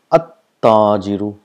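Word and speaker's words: التاجر: If you see here, we pronounce this at-tajiru. So we got a single dhamma, and the sound of lam is not produced, and the letter next to it gets a shadda.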